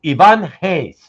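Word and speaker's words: Ivan Reis: It's Ivan Hayes, right? Hayes as in like with the H? Right. It sounds like an H.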